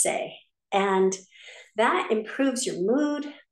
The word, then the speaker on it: Tse: there's one called say it's actually spelled TS e but it's pronounced say and that improves your